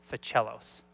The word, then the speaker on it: Fichialos: If you ever have a hard time saying my name, think of somebody who plays a cello, Fichialos.